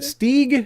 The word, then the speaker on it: Stieg: All right, and is it Stieg? It's a long E Gotta sound?